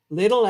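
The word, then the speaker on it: Lidl: Little as in little. Okay, I pronounced it correctly.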